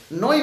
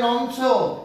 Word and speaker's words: নই: দেখো নই বহুব্রী হবে, নই, এটাকে উচ্চারণ করে কি জানো? কেউ বলে নংস, কেউ বলে নই, নইও না, নই, ন ইও হসন্ত, নই, ইও হসন্ত, নই।